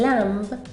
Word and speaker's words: lamb: Se omite el sonido como por ejemplo en lamb, que significa cordero.